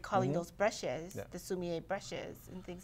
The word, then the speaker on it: sumi: it's quite commonly called sumi which is a more like a japanese pronunciation but the characters are